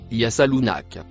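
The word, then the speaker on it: يسألونك: Le mot en bleu se prononce yasalunak.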